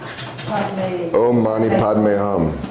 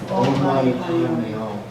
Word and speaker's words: Om Mani Padme Hum: And this song specifically, I call it a song, is Om Mani Padme Hum. And I know I'm pronouncing that very American.